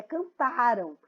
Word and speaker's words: cantaram: Aqui é cantaram. Então, a sílaba mais forte aqui em cantaram é o tá, ó.